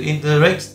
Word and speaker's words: interact: Trọng âm và âm thứ nhất, đúng không ạ, như từ interaction, đúng không ạ, interaction thì các bạn, cái từ interact, cái từ rect này nó là rất là